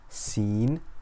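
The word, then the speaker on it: سين: so repeat after me seen scene scene scene makes a whistling s sound like the hissing of a snake so repeat after me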